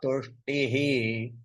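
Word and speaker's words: तुष्टिः: Actually, if we break it, we pronounce it as ahimsa samata tushtihi.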